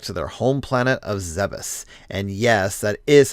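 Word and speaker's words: Zebes: brings Samus back to their home planet of zebus and yes that is how I pronounce it no I do not care to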